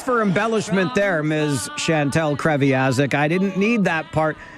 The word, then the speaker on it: Kreviazuk: I can't even pronounce her last name. Kreviazuk.